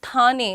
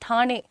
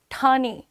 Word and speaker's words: ठाणे: एक तो मेरा प्रोनाउंसिएशन अच्छा नहीं है, इट्स नॉट थाने, इट्स ठाणे, ठाणे I think, I am sorry but मैं कोशिश करती हूँ, ठीक है।